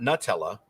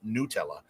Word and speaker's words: Nutella: Now it's just like when I talk about Nutella, it's not Nutella. It's an Italian company who says it's pronounced Nutella, and people are like the word nut is in it.